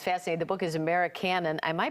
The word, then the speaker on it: Americanon: The book is Americanon. Am I pronouncing that right?